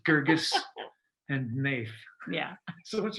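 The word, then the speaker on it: Guirgis: page there you go or that we can mispronounce and have to correct ourselves i'm pretty sure that it's gurgis and nath yeah so once you write a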